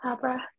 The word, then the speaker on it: Sabra: every single time uh is it Sabra or Sabra oh no you've got it thank you it's Sabra okay um you can